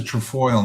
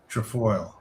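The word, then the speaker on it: trefoil: That's a trfoil knot. How do you spell that? T R E F O I L. Trafoil.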